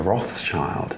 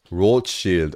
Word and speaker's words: Rothschild: laughing at this because in english we would pronounce it as a rothschild but you guys would